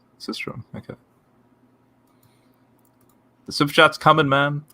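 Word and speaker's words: sistrum: it's a shaker okay what's this system is how you pronounce it system okay the subjects coming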